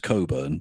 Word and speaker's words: Cockburn: It's I think it's definitely a Cockburn. fake. Yeah. Yes. And no, because that is a real surname. Yeah. It's pronounced Coburn, but yeah.